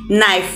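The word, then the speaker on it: knife: হবে এন ওনার আরেকটা উদাহরণ দেখতে পাচ্ছি যেখানে নাইফ নাইফ মানে হচ্ছে ছুরি তাহলে এখানে কেতা সাইলেন্ট কে সাইলেন্ট থাক বা না থাক নাইফ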